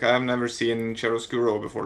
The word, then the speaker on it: chiaroscuro: genre is said because it's an Italian word. So yeah, it's Chiaroscuro, and that's for you, Stu. You wanted to know how to call it, how to pronounce it. Yeah, I thought it was a chiaroscuro, like so it said much more slowly than that, but ultimately I at least had the hard ch.